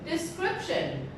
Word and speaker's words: description: this gives a detailed description and this word description it is also a noun and it has three syllables the scrip shin so the stress is under there the second syllable description okay in the